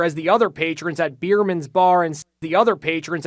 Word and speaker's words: Biermann's: word customers patrons at biermann's bar yeah I love the name because it sounds like beer man's yeah it does but